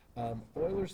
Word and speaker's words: Euler: It's pronounced Euler, even though it's spelled this way.